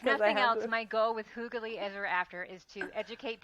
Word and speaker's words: hygge: us feel better and comment that you have also pronounced it incorrectly, and that we all learned together today that it is hoog.